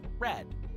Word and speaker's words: read: One is the literal color red, the other is read, but it's spoken in the past tense. So it's pronounced red.